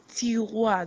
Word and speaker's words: tiroir: And then we have tiroir, that's your drawer. Your drawer, maybe where you do your assignments, tiroir, and it's spelled Tiroir.